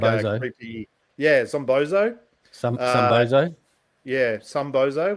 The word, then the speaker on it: Zombozo: What was his Zombozo? I can never pronounce his name properly. Zombozo the clown. He's like a creepy. Yeah, Zombozo.